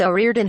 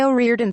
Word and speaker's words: O'Riordan: right today said another the surname is traditionally pronounced as one flowing word with the O being said like an E however Louise continued to say the name as if it were two separate words The Cranberries front woman